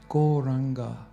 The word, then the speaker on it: Gauranga: Gauranga mantra actually means the golden ocean of spiritual love. It means the golden Lord of love. It's got 4 syllables. Go, ra, anga.